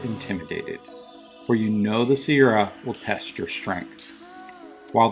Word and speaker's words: Sierra: Pronounced Sierra. Not Sierras, not the Sierras, no S at the end, no multiples needed.